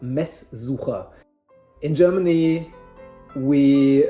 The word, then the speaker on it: Messsucher: It's well, basically, just to make things short, it's pronounced Messsucher.